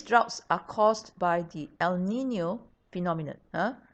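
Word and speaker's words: El Niño: some of these droughts are caused by the el nino phenomenon huh it's pronounced el nino and it means little boy right so this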